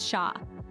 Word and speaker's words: cher: Then there's cher, pronounced sha, a term of endearment meaning dear or darling, used to express affection.